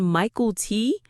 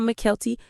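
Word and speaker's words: Mykelti: I said Michael T, not Mckelty.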